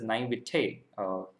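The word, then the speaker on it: naïveté: be the naivety oh yeah so it is pronounced as naivete and this is something that i didn't know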